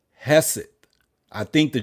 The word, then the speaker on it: Hegseth: Now, the Secretary of Defense Secretary, Pete Hegseth, Hegseth. Hegseth. I think the G is silent.